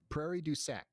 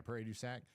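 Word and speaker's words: Prairie du Sac: So Madison and areas nearby up there towards Prairie Dac or how do you say that? Prairie Ducac. Yeah, Prairie Ducac.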